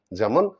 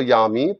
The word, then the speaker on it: যামি: বা ইতো নৃসিংহ পরতো নৃসিংহ, যত যত যামি তত নৃসিংহ না বলে এটা হবে যত যত ইয়ামি তত নৃসিংহ।